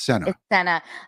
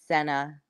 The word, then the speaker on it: Sena: yup in the chat so it's not Cena it's Senna I know like again like I said in my TV career I've had to correct people multiple times I'm like it's not like John Cena um it's Santa and so this is a worst case scenario of having to correct people with it but yes it's Senna it's Senna well I